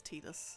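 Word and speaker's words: Tidus: I know it's pronounced Titus, but I'm stubborn and I still...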